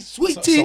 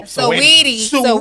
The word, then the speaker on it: Saweetie: his famous girlfriend, I don't know how to pronounce it. Is it Saweetie? Is it Sweetie? Saweetie. I thought it was Soweto.